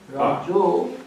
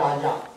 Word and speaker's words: rajo: Rajo, sometimes it is spelled Rajo, but it is Raja, R-A-J. The same as Raja. Like a Raja. Okay. Like a Raja. It is Raja. Raja. In Bengali sometimes they put O. Raja, Rajo. Or that is more Bengali pronunciation like that.